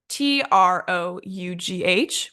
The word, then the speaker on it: trough: okay so we have t r o u g h which is pronounced as trough we have r o